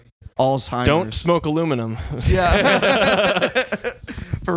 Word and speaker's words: Alzheimer's: How do you say Alzheimer's? Alzheimer's.